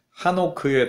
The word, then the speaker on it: 에녹: 얄 s 아들 이름이 이 에녹 인데 실제로는 한 오크의 더 가까운 발음 이랍니다 헌신 이라는 뜻을 가지죠